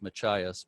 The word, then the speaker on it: Machias: you're muted i thought i heard somebody say machias it is pronounced machias by the way but uh anyway make sure